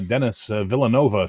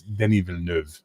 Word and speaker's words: Denis Villeneuve: I just saw the new Dennis Villanova film, and I'm like, what? It's Denis Villeneuve.